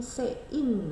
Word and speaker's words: cin: kenal ada namanya Cin cuman bacanya bukan Cin tapi se in Nah maka Kau pasti